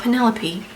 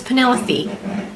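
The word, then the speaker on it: Penellaphe: just just for example penelope apparently is not penelope it's penelope with like an f-e-e at the end uh according to this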